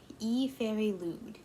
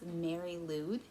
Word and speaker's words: Meri Lwyd: pronounce things correctly but it's pronounced i believe e fairy lewd or e fairy dude hued lewd e fairy lewd um but the way that it looks is mary loud but then when you say like how to pronounce it like when you see it which i'll put on the screen so you guys can see it too it looks like it's like e fairy glued but anyways so that's